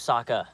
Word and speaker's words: Sokka: My name's Sokka, rhymes with Akka and Waka Waka.